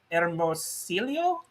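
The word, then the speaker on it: Hermosillo: is uh who's saying hi from hi from hermosilio is that how you pronounce it yeah i'm like this is your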